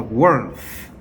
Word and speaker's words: worth: worth. worth. 자, th 이거 번데기 발음이 있죠. th라고 해야 되죠. worth. worth 아니에요. worth예요.